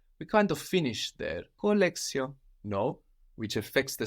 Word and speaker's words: collection: spelled the same but we notice an S sound instead of the sh that we have in English collection and in French colio like with an S